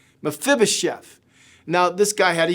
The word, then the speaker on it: Mephibosheth: His name is Mephibosheth. Mephibosheth.